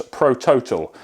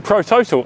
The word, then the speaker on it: ProTotal: Um, we came across ProTotal or as the the Scandinavian origin would probably pronounce Prototal.